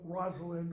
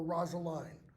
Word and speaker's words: Rosalind: story of Rosalind or Rosaline it can be pronounced either way because it can R it can rhyme either way in Shakespeare's day it can rhyme with wind and it can rhyme with wine okay um as with